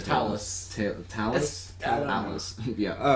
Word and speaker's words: Talos: Talos. Yeah. Talos sounds right because that's how they pronounce it in Skyrim. It's spelled the same way.